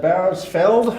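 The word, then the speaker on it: Bauersfeld: uh uh walther um barris how do you pronounce that name it's uh bowersfeld walter barrosfeld he was an engineer an optical engineer for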